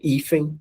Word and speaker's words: hífen: Veja que nós temos duas sílabas. E a sílaba forte é a penúltima. Então, hífen, nós temos uma palavra paroxítono.